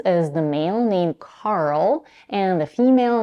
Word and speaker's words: Carl: let's first pronounce Carl we start with car you know like the vehicle you drive car the first sound is the voiceless Veer stop in this case because we have only one syllable the syllable is stressed by default and because the stop C comes at the beginning of the stressed syllable we have to aspirate it this means that we